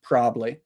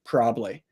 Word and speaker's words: probably: However, probably that's the one where I might do what you do, and I would say probably, probably.